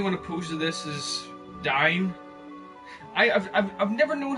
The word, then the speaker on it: Dyne: The only one opposed to this is Dine. I've never known how to pronounce that guy's name. The way I pronounced it was it's similar to the way Cyberdyne Systems Model 101 from the Terminator.